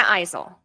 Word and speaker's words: Eisel: Eisel. Think about eyes.